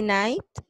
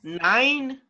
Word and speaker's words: night: That is the pronunciation. Night. Night. Night. Night. Because if you say 9, that's a number. Night. Okay. No, So, no he dicho 9. I didn't hear the letter T.